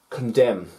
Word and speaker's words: condemn: to write with it condem not condemned condem so even though you spell it without the n without the silent letter it will be incorrect how crazy is that same with bomb